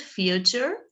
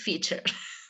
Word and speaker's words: feature: down for you here feature is very difficult difficult to pronounce for a spaniard so it's not future okay it's featured in case it was not clear so your dream